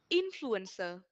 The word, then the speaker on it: influencer: next one we have influencer okay you will have to remember that is on the first syllable okay okay correct